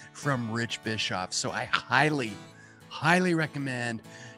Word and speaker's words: Bischoff: It's Bischoff, and it gets pronounced Bischoff and Bischoff and every other iteration you can possibly think of, but it is pronounced Bischoff. People out here in the South would say biscuit.